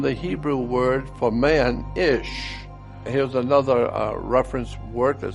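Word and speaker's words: איש: Isha, comes from the Hebrew word for man, Ish.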